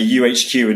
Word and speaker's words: YouHQ: we're speaking to people we say uhq and they always spell it with a u and then H you know it it if you're looking for our website it's y u HQ we are English we spell it y u yeah amazing has